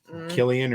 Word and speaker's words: Cillian: Yeah, I think he's an awesome and sometimes they pronounce his name different than that, but Killian or Killian. Yeah, we always called it Cillian. I always call him Cillian, but he's Irish. So it's probably got a different.